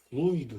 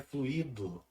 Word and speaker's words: fluido: de que fora impregnada observe a pronúncia fluido gente não é fluído fluido curativo de que